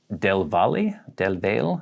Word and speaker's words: Del Valle: Where I grew up, there is a lake called Del Valle. Locals pronounce it Del Val, but I hear all kinds of other ways.